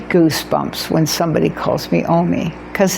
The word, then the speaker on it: Omi: The O isn't a problem in Spanish. The M-I, me, M-I is spelled me in Spanish, so O-M-I worked just great, which is so exciting